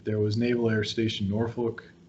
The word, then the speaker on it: Norfolk: Then there was Naval Air Station Norfolk, or Norfolk, depending on who you ask. There's a different way to pronounce it.